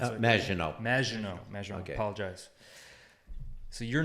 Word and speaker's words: Maginot: Did I pronounce it? Maginot.